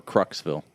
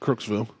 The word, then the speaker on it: Crooksville: Or Cruxville? Nope, Crooksville. That's how they pronounce it, so I'm going to go with it.